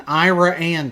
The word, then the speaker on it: Iraan: Denny the dinosaur in iraan Texas that's right I said iraan it is spelled like Iran the country but with an extra a and they call it Ira an so this was